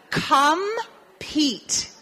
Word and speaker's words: compete: Compete. Compete. La primera sílaba, com, número 1, pete, P-E-T-E. Número tres. P-E-T-E. Pete. La E al final, ¿verdad? No se pronuncia.